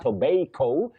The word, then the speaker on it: tobacco: You say ba, not bay. Some people may find it a bit stylish saying tobacco, but it's just like somebody saying man instead of man. So we say tobacco.